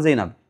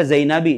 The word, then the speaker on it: Zainab: Karena ini menunjukkan perem enggak bisa dibaca Zainabi, dibacanya Zainaba kalau dia maj majrur.